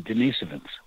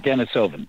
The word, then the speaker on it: Denisovan: they're currently called the denisovans and i i'm happy to report that apparently the most widely used mainstream pronunciation of that is denisovan okay that may seem correct not dennis oven but in any case